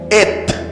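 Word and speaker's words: את: y estas dos letras se leen en hebreo et et et continuamos que Jesús es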